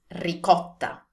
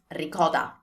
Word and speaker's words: ricotta: And I know for sure that this is often pronounced as ricotta. That's very English, but not Italian. So again, T sound, not D sound. T, T, and also double T.